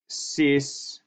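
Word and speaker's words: cis: maybe that's it but you pronounce it sis s is that's how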